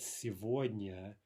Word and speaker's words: сегодня: Russian where this happens, where the g is pronounced as a v. By the way, the other example we've seen of that, сегодня, it's the same thing.